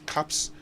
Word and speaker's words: cups: you know so uh that we pronounced as caps not with a z at the end because p is actually a voiceless sound okay I've always indicated